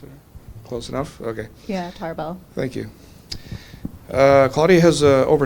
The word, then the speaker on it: Tarbell: So today we have Claudia Tarbell. Did I pronounce it close enough? Okay. Yeah, Tarbell.